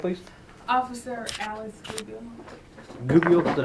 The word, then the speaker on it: Goodle: Goodle, is that how you pronounce that?